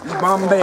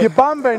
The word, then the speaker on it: Yibambe: Harambe. Yibambe, not Harambe. Even though it kind of rhymes with Harambe.